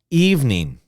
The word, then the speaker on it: evening: listen and repeat nine two syllables nine evening evening okay just two sounds evening evening okay number nine